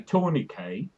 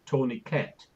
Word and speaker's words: tourniquet: It's like in England we say tourniquet. In America they say tourniquet because they don't realise it's a French word and you should leave the T silent.